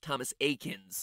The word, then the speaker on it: Thomas Eakins: pokemon reference there because his name is pronounced thomas akins thomas a kins who